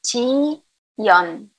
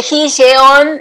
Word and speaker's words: 지연: Mi nombre en coreano es Ji-yeon.